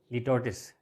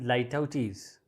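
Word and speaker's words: litotes: Normally I have heard people pronounce this word as litotis. This is litautis.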